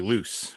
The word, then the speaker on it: Luce: great it is what it is so i'm pronouncing your last name correctly loose right yes okay uh when i first you